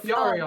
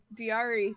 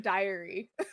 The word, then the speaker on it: Dyari: like, I like this Dyari thing. I'm gonna use this as my last name. But And then everyone pronounces it diary.